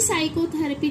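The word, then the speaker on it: psychotherapy: अब देखिए इसे पी साइकोथेरेपी नहीं पढ़ेंगे, इसमें पी साइलेंट है, इसको हम क्या बोलते हैं? साइकोथेरेपी।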